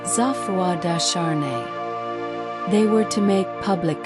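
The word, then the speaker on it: Geoffroi de Charney: With him was Gafroy Darnney, pronounced Zafua Dashar.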